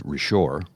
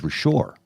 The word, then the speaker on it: Richard: My Name I go I thought your name was rishor he goes it is RoR I go that's Richard but because it's French they pronounce it rishar